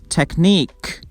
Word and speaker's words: technique: IQUE suffix. Unique, technique, antique. We stress the last syllable.